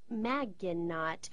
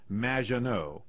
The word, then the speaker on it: Maginot: Maginot, welcome to the show. Thanks, Amy. However, you have mispronounced my name. It's Madge, which rhymes with badge, as in duh, and no, as in more than you, Maginot.